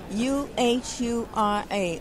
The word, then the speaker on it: Uhura: So, everybody knows you as, it's pronounced Uhura, right? Uhura. And that's actually... The character that I play? Yes. Uhura.